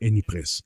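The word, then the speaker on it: Ypres: Aunque se escribe IP R e s, la pronunciación francesa es IPRES. Aún así, los ingleses que lucharon allí a menudo llamaban a la ciudad wipers.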